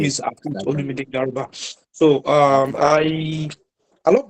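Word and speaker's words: Garuba: to pronounce my surname the name is Guba. G A R U B A Ga. So my name is Guba.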